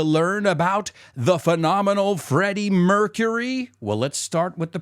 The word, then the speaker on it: Mercury: about the phenomenal Freddie Mercury well let's start with the pronunciation did I say Freddie mercur Mercury no it's Freddy Mercury so the same thing if